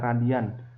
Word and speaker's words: rad: Di mana theta itu artinya posisi sudut dalam satuan rad, ini dibacanya radian.